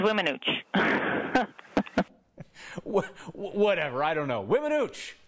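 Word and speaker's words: Weminuche: It's the Wiminooch Wilderness. People butcher it in all sorts of interesting ways, but, you know, Wymanooch, Wiminuche, Wimaniche, whatever, I don't know. It's Wiminooch.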